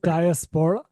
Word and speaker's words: diaspora: And then So the word is pronounced diaspora.